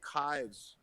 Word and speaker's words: Kives: But anyway, there's this guy named Kives, kind of looks like knives, rhymes with knives.